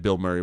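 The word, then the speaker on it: Bilmuri: It's spelled B I L M U R I. Um but it's it's said Bill Murray, whatever.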